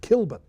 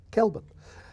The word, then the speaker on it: Kelburn: In Wellington you get people talking about Kilburn. There's no such place in Wellington called Kilburn. It's Kelburn.